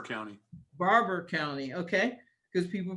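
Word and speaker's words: Barbour: of uh new vision and how do i pronounce that barbara or it's in barber county barber county okay because people pronounce it and people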